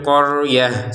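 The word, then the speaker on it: الْقَرْيَة: Kita bacanya qorah ini sebagai huruf ha karena berhenti. Hadil qoryah seperti itu. Karena berhenti ini terbacanya sebagai huruf ha. ta yang bulat seperti ini. Tapi kalau digabungkan dia menjadi ta sebagaimana semula. Waid qulnadulu hadil qoryata faulu minha.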